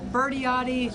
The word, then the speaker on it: Birdiotti: Birdiotti. Think of, I always say, Birdie. pronounce it like a birdie in the sky.